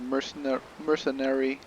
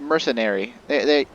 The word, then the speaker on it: mercenary: She said mercenary, like it was... like it rhymes with nursery. It's a mercenary.